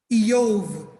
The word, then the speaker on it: Job: job not a job his name is yov but they call him job but a child's looking